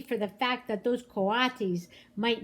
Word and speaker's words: coatis: These are coatis, Mrs. Brisbane said, reading from the letter, pronounced coatis.